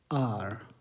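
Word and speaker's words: hour: Vowel sound आता है क्योंकि एच साइलेंट होता है। आर, आर यही इसका उच्चारण है, तो आ इज़ द वाउल साउंड।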